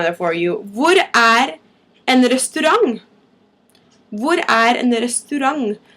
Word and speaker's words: restaurant: Hvor en restaurant? Hvor en restaurant? I know it's spelled like restaurant, but for some reason it's pronounced as if it ends with a G.